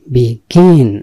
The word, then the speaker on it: begin: কেন দিই জানেন আপনি উচ্চারণটি খেয়াল করবেন কোথায় আসলে জোর পড়বে গতে গিয়ে জোরটা পড়বে অর্থাৎ জিতে বিগিন এই যে উচ্চারণ করলাম উচ্চারণটা দেখবেন যে দেশের বাইরে এভাবে উচ্চারণ করে সুতরাং বিগিন মানে কোনো